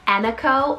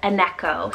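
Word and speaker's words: Emeko: the list here and that's the name anniko or aneko spelled e-m-e-k-o now this one could be also pronounced a few different ways but this one has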